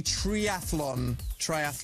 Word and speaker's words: triathlon: We are doing a triathlon. Triathlon. Do you know how to spell it, by the way? It's No. It's thlon. Thlon. It's not tholon. Okay. It's thlon.